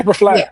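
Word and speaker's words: Cooper Flagg: when it comes to coopa flag how you say his name coopa flag Cooper flag yes yeah um he can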